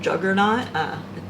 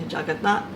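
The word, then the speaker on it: Jagannath: maybe you've heard of the bad English mispronunciation juggernaut. It's actually Jagatnath.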